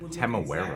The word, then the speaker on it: Temuera: Temuera Morrison played Jango Fett, so I like the way it pronounces it. Temuera. Exactly like Temuera Morrison when he grew up. I always said But because Tamora.